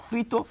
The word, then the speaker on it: কৃত: কৃত উচ্চারণ কিভাবে হবে? এই মৃগ যেভাবে করেছি মৃত যেভাবে করেছি এই কৃত উচ্চারণটা ওইরকম হবে। কি কি রকম হবে? কয় রফলা রসইকার তওকার। কৃত। এবার লক্ষ্য করুন ক এর রফলা দীর্ঘ ইকার ত এর উচ্চারণ কি? এর এই শব্দটির উচ্চারণ যদি আমি লিখি তাহলে কি হবে বলুন তো? একই হবে। অর্থাৎ ঋকারের উচ্চারণ এবং রফলা দীর্ঘইকারের উচ্চারণ এবং রফলা রসইকারের উচ্চারণ একই। এই দুটো শব্দের উচ্চারণ হুবহু এক।